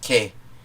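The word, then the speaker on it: και: In Greek, that's pronounced ke, but one of the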